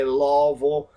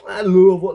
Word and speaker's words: Louisville: __ ] up Louisville they say laville uh we live in laville laville Louisville Lou that's how you say it right if you want to say it right you say it is